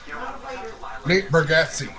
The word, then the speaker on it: Bargatze: Nate Bargatze.